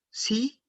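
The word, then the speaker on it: sie: Ich, yo, du, tú, er, él, sí, con minúscula, ella, es, eso. A ver si tienen preguntas. Sí, pronunciación, así como lo estoy pronunciando, sí, como el sí afirmativo del español, como decir sí, exacto.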